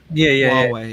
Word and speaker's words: Huawei: Huawei. Yeah, it's pronounced Huawei or something.